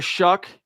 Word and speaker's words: Shuck: Riley Leonard, Tyler Shuck. Don't be mystified by his name. It looks like Shao, but you pronounce it Shuck, from Louisville.